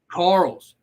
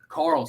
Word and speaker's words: Karels: no problem hey before we get on we pronounce the last name is carols Carl's Carl's all right so everybody we talked about at